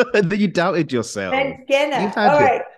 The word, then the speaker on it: Mangena: Mangena. All right. Thank you. I always try to make sure I can pronounce people's names.